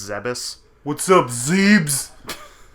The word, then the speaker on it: Zebes: pretty sure that's wrong I think I also used to pronounce a zebes for for a longest time but I'm pretty sure it's zebus what's up Zebes like